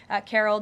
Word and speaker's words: Karol: He met with Karol Nawrocki, if I'm pronouncing that correctly.